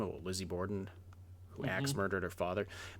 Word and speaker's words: Borden: How do you pronounce the Borden. name? It's Borden.